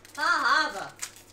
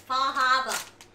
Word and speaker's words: Far Harbor: Fahaba. Eowyn spent a bunch of time in Maine when she was younger, and apparently Northeasterners are very particular about pronunciation. You don't pronounce the R's. It's Fahaba.